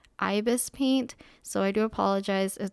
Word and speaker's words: ibisPaint: do refer to it as ibiz paint the entire video even though i know now it's ibis paint but yeah i guess